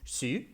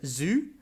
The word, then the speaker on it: Xu: Like my wife's surname, her surname in Chinese is Xu, but like every English speaker out there pronounces it either as Zhu or Shu, or some other random variation of it.